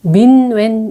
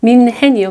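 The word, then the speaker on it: 뮌헨: 네, 민웬 이야기입니다. 민웬이 아니라 민헨이요, 민헨. 발음이 되게 어려워요.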